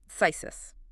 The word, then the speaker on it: phthisis: It is spelled P-H-T-H-H-I-S-I-S. Four consecutive consonants. Yep. It looks fundamentally impossible for a human mouth to articulate.